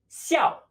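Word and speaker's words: 校: tree next to it this is pronounced Xiao Xiao Xiao like small with a falling tone yeah and note this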